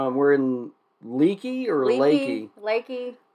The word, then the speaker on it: Leakey: Lakey. It's spelled Texas. L-E-A-K-E-Y, so I would call that Leakey, but the locals call it Lakey.